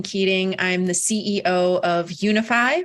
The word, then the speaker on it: Younify: I'm the CEO of Unify, which is spelled funny. It's YOUNIFY.